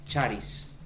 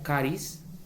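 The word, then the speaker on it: χάρις: En español es gracia, pero en griego es charis. Charis, o también algunos lo pronuncian como caris.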